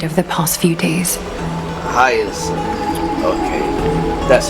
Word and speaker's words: Hyacine: Hyacine. Thank you for taking care of the wounded of the past few days. Hyacine.